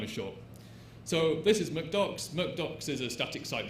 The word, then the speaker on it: MkDocs: But they asked, do you pronounce it MakeDocs or MKDocs? And the developer replied, I use McDocs.